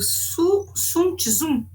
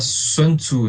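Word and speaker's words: 孫子: arte da guerra, do Sun Tzu, é isso? O pessoal pronuncia Sun Tzu, né? Só que no original chinês a gente fala Sun Tzu.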